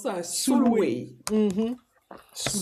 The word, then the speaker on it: Sulwe: Alors, le prochain livre, c'est Soul, je sais pas comment on prononce ça, Sulwe. Soulway. Mhm. Sulwe. Soulway, qui a été écrit par Lupita Nyong'o, qui est l'actrice kenyane que tout le monde connaît.